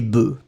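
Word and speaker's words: bœufs: final œuf un œuf quand vous mettez au pluriel le F disparaît totalement et vous allez obtenir un son e des œufs un œuf des œufs c'est la même chose avec bœuf un bœuf des bœfs d'accord faites attention parce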